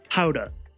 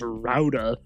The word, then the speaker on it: Gouda: I forgot you pronounce it Gouda. Oh. Okay. Or you know, Gouda. I've also heard it being pronounced as Howda. But I've never heard it being pronounced Rauda.